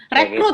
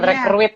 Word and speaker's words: rekrut: Rekrut, gitu ya. Pak, rekrut, bukan rekruit ya.